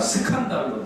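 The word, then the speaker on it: σκάνδαλον: 아, 스칸달론. 죄송해요. 제가 발음이 좀 안 좋아서 스칸달론.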